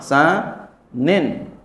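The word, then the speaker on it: ثانٍ: diteruh ynya jangan diaruh ini udah ketahuan nih bacanya Sanin nih ya ynya jangan ditaruh ada Tarin tanwin namanya tanwin apa tanwin iwad iwadun Anil Harfi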